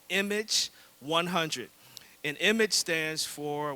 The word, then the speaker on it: EMAGE: So we're integrating, or we're developing an initiative called Image 100. And Image stands for, well, it's spelled EMAGE.